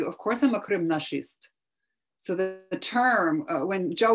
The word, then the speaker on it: кримнашист: And then the term Krim Nashist, he's somebody who believes that Crimea is ours, which rhymes with fascist.